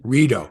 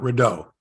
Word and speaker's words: Rideau: on burrito yeah yeah that's how you say it right yeah Rito not rodeo Oh I tried to